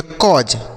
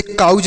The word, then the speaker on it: cause: CAUSE इसे हम पढ़ेंगे कॉज। क्या पढ़ेंगे? कॉज। इसे काउज नहीं पढ़ेंगे, कॉज पढ़ेंगे।